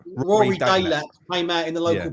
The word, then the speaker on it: Delap: Delap, yeah?